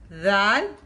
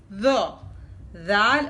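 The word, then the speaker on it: ذال: when tip of the tongue touch the lower part of Upper Front Teeth then these letter are prouns th zal zal and th are light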